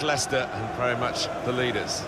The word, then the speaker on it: Leicester: rest of the world try to learn how to pronounce their name. Lysester and Lchester. We got a lot of that, didn't we? But very much Leicester and very much the leaders.